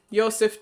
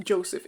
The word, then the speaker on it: Yoseph: trailers of like oh here is yoseph teaching you I guess his name is actually pronounced Joseph in the game uh